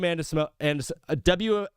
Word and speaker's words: Anisimova: Anisimova.